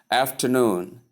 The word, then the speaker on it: afternoon: Afternoon. Afternoon. Afternoon. Afternoon. Do you get that? Stress on the last syllable. That is the third syllable.